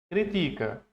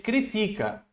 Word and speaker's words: critica: Ele critica, né? É o ti a sílaba forte aí. Ele critica. Quando eu pronuncio a crítica, ó olha a palavra a sílaba forte.